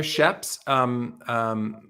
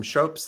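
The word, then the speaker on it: Schoeps: Oh yeah, they're sheps. Some people pronounce them shopes.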